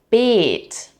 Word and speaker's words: Beet: Another example is Beet, Beet, with a long E. That means garden bed.